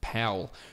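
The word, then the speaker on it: Paweł: for calling in power but apparently in German he is pronounced Pawel so Powell's ipsa at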